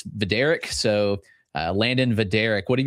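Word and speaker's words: Vidorek: And you told me you got the pronunciation guide. It's Vader.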